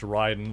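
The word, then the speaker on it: Raiden: against the right and Shogun pronounced Ryden like the immortal combat character for a second there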